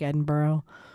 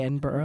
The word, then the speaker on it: Edinburgh: If you're in like Edinburgh or Edinburg as we would stupidly say it. I wouldn't say it like that. I would say Edinburgh.